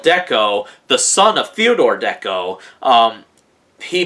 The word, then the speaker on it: Decot: it appears that it's pronounced as Deco with the T at the end being a silent T but anyways uh um